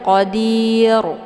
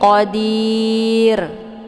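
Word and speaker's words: قدير: Ini dir rnya tipis ya. Jadi jangan dibaca qadir. Naikkan pangkal ke atas. Itu bacaannya salah. Tapi qadir ya tipis rnya.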